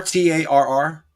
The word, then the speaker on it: Tarr: Tar, Tarr, like asphalt.